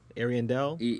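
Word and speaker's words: Ariandel: well the DLC is called ashes of arandel Arendelle yeah am I pronouncing that correctly yeah you are I do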